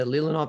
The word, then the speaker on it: Leelanau: The Leelanau Peninsula in Michigan. That was pretty close. Yeah, Leelanau Peninsula in Michigan is on the 45th, as